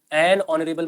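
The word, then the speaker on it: honourable: दोनों के पहले ए लग जाएगा क्योंकि दोनों का उच्चारण किससे है? ऑनरेबल। तो एन ऑनरेबल मैन हो जाएगा। अ का उच्चारण है। वोवेल का उच्चारण है एन ऑनरेबल।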